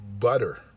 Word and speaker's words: butter: e bu TT er the T's in British English are pronounced like a T they say but turn